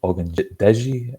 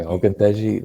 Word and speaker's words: Ogundeji: A day, Ogundeji, have I said it right? But pretty good. It's like 98% there. So. Okay, Ogundeji, like, I thought he was a standout against the Jaguars against the run.